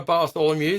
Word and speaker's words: Bartholomeusz: I've got Bartholomew. Hey. Hi. Great pronunciation of my name.